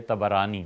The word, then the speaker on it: طبرانی: یہ روایت آئی ہے طبرانی میں۔ طبرانی کا اصل تلفظ یہی ہے، طا پر بھی زبر ہے، با پر بھی زبر ہے، طبرانی۔ طبرانی رحمۃ اللہ علیہ